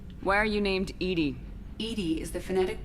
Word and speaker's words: EDI: is a jar why are you named Edy Edie is the phonetic pronunciation of e di that is an acronym